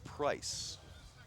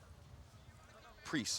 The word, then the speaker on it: Priest: get a little rest here's Clayton price Clayton price priest I believe it's pronounced so priests hitting four